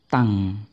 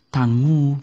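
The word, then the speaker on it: tongue: membacanya agak jauh memang ini dibaca tang banyak yang di-silentkan ya terutama u-nya u-nya sama sekali tidak berbunyi tuh ya harusnya paling enggak Tangu begitu ya paling enggak Tangu tapi ini membacanya adalah tang tang jadi u-nya termasuk hilang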